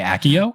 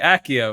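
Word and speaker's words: Accio: I can tell you from Latin which I did take in high school that it would be if you're going by Latin rules a hard C cuz soft C's in Latin not a thing.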